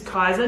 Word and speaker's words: Kaisa: Everyone, this is Kaisa. Now I've pronounced that correctly, yes?